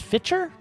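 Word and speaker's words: Fichtner: with Doo's character either but William is itel pronounced fiter is priceless in this as the cop who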